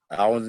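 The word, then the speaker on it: أَعُوذُ: Jadi zu itu pengucapannya, makhrajnya ujung lidah kita, ujung lidah ini bertemu dengan ujung gigi seri yang atas sini. Za, bukan di bawahnya. Atau bukan keluar a'udzu, a'udzu. Ya, di ujung lidah za.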